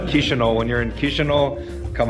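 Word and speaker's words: Chișinău: keep saying it wrong how do you say the kisho kisho not even close with me okay kisho when you're in kisho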